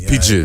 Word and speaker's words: Pigbin: PJ, how you pronounce it is PIGBIN. PIGBIN. Oh, pidgin, Yeah, not- like the pidgin language.